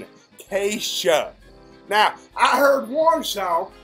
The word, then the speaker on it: Kesha: Should I be learning the Casey? Is that supposed to be a SH sound? Yes, sir, Butch. Butch. I don't know how you're pronouncing it. Keisha.